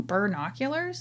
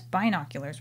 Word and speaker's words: binoculars: what are you saying are you saying bird oculars and you were like yeah and i was like you know it's binoculars right and you were like